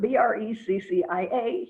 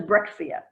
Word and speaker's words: breccia: Now this word, B-R-E-C-C-I-A, here in Israel tends to be pronounced by the archaeologists as brexia. I have no clue where they got the pronunciation. It is an Italian word. Ask an Italian, they'll tell you the word is pronounced breccia.